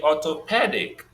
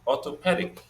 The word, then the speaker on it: orthopedic: In the orthopedic, that e sound is the one that is stressed, but it came along with the p sound, pe, headache, orthopedic.